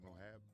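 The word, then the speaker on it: Merab: Mohab? What's his name? How you say his name? Which one? The guy I thought he was Mexican. Marab? Yeah, Marab.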